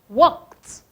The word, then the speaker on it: walked: The L is silent.